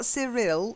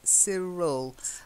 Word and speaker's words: Cyril: name like Anthea but this one's Cyril Cyril see ya and Cyril is also it's not surreal it's Cyril and it's kind of